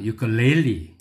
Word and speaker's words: ukulele: Ukulele.